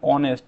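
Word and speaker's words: honest: হবে সঠিক answer N অনেস্ট অনেস্টটা ও এর মতো উচ্চারণ হচ্ছে ও এর মতো এই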